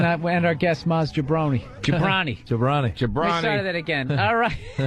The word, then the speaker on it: Jobrani: Maz Jobrani. Yes, I say it right. I always want to say Jobrani because of The Rock.